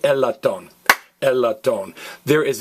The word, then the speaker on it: latón: or a euphonium now notice the accent mark we expect to stress the next last file but that ax mark says hey don't stress the next last file don't say a lot don't stress me lot don't and I'll tell